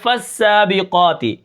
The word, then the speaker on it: فالسابقات: کس طرح پڑھیں گے، فا سین زبر فس، سین کھڑا زبر سا، فسا، با زیر بی، فسابی، قاف کھڑا زبر قا، فالسابقا، تا زیر تی، فالسابقات